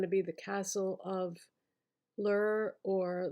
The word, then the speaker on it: Llyr: be The Castle of Lur or Lear. I'm not sure how to pronounce it. It's Llyr.